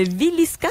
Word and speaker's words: Villisca: Tu vas nous parler des meurtres à la hache de Villisca. Est-ce que je le prononce bien?